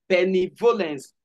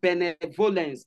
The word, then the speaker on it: benevolence: I pronounce this as benevolence all right not benevolence but Ben benevolence is like pronouncing benefit benefit benefit benefit benefit